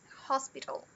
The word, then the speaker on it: hospital: Muita gente, muito comum, nós brasileiros, querer falar hospital, hospital, mas não tem o al no final, hospital, tal.